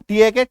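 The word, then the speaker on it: talk: एल के के से पहले एल है काट दो वाईओ एल के काट दो बी ए एल के काट दो ठीक है अब पढ़ो इसको डब्लू ए के वॉक टी के टॉक सी एच ए के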